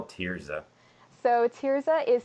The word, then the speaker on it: Thirzah: to you how do you spell tiza so tiza is spelled t h i r z a awesome